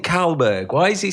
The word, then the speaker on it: Kallberg: to say your name is it shelb no it's not shelb yeah uhhuh um so